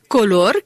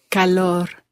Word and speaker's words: calor: ¿Tienes color, Katy? Calor. ¿Tienes calor? ¿Tienes calor? Sí, tengo calor. Okay, she just corrected my pronunciation, which is why I am not speaking Spanish or teaching Spanish, but Katy is.